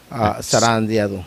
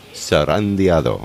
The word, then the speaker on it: zarandeado: Zarandeado. Zarandeado.